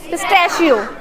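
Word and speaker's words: pistachio: पिटा पिस्ट शियो पिटा इसकी करेक्ट प्रोनंसिएशन क्या होगी पिस्ट शियो यस अच्छा नाउ टेल मी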